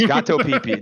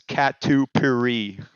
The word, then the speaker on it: catupiry: It was a gato pipi? Yeah, it's gato pipi. No, it's called. I'll do it with a more of an American accent. It's catupiry.